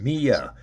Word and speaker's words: Miya: Even though it's spelled Miya, it's pronounced Mia.